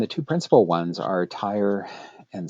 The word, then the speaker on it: Tyre: And the two principal ones are Tyre and Sidon. I'm using the English spellings and pronunciations of those names. Tyre and Sidon.